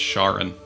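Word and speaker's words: Charun: Oh, I think it's pronounced charin.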